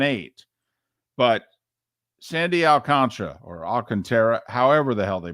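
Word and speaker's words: Alcántara: MLB announcers Marlins announcers everybody pronounces it as El Contra even though it does not spell that way I'm going without Contra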